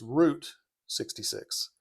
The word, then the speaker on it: Route 66: And uh make sure you pronounce that right. You can say route in any other context you want, but it's Route 66.